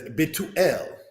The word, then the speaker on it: Bethuel: Bethuel, said in the language as Betuel.